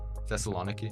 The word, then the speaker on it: Thessaloniki: Thessaloniki, Thessaloniki? is that how you pronounce it?